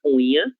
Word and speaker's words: unha: Basta nós pronunciarmos como se houvesse a letra N no meio dessas duas vogais, ok?